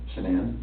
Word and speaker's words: Shanann: And I don't want to pronounce her name wrong, Shanann. Shanann?